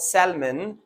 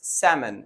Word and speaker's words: salmon: other word we have doubt now the b is silent in doubt and then the last word is salmon it's not salmon it's salmon it's a kind of fish well now all